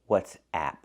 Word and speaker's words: WhatsApp: your friends very good so the messaging app is called what's app use the ass sound like black cat ah it's open and the